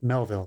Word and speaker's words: Melville: The French director that I love so much, Melville, Jean-Pierre Melville.